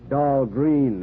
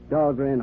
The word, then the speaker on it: Dahlgren: Of course, they mispronounce it down there. Dahlgreen, they say, but still named after me. But at Annapolis, the Midshipman's Armory, they call that Dahlgren Hall. They pronounce it right at Annapolis.